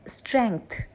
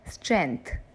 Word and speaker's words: strength: The letter G is kept silent, whereas in the correct pronunciation, the letter G is also pronounced. So it's strength, not strength.